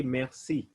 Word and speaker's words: merci: r c i so remember whenever we have r we'll pronounce it like kh so i'll say merci you swallow the r merci that is thank you